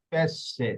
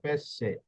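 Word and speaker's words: pesce: মত হবে এই যে দেখুন এখানে দুন্নতাসর উচ্চারণ হইছে পেশে ঠিক আছে পেশে এই যে এস এ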